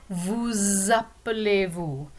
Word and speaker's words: vous appelez-vous: If you see the S at the end of vous, normally it's not pronounced, but when it's connected to a word that starts with a vowel sound, like appeler, then we link them together and you pronounce the S.